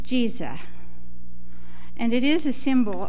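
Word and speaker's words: Giza: spelled GI z eh but it's pronounced Jesus and it is a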